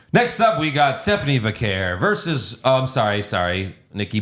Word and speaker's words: Vaquer: This is what Stephanie told me is how her name's pronounced. Oh, okay. Stephanie Vaquer.